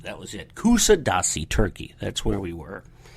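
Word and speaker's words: Kuşadası: Not really, that wasn't the name of it, but Kusadasi, that was it. Kusadasi, Turkey, that's where we were.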